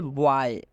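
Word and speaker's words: boy: माध्यम से समझाते हैं जैसे बॉय वय में आप देख सकते हैं ओ वाई आया हुआ है तो इस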